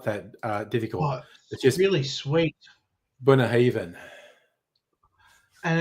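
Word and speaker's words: Bunnahabhain: I I was looking up the pronunciation and it's not that uh difficult. Really sweet. Bunah Haven and it's got a lot of um Yeah, it's got a lot of uh Irish to it.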